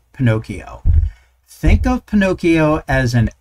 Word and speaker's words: Pinokio: That's Pinokio, and it's spelled PINOKIO.computer.